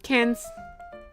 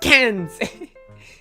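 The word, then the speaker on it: Cairns: A classic cans. Wait, is this spelled with an E? No, it's not. Well, cans. And it's not K. Don't pronounce the R. cans like a tin can of fish.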